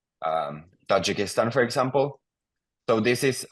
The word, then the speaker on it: Tajikistan: like this in finish so Tajikistan it's it's pronounced the exact same and then the language